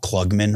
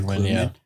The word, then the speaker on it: Krugman: You saw guys like I always say his name wrong, Paul Klugman or Krugman. Krugman, yeah, yeah.